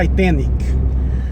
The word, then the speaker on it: Titanic: Porque, veja bem, se você for ouvir em inglês, a pronúncia é Titanic. A sílaba tônica é a segunda, não é a terceira. É Titanic, porque é da palavra Titan. Em português, o adjetivo seria titânico ou titânica, com a segunda sílaba tônica, porque a palavra é titã.